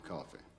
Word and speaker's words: Coffey: Your name is John Coffey. Yes, sir, boss. Like to drink, only not spelled the same.